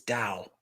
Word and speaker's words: Tao: Say Tao with a D. It's Tao.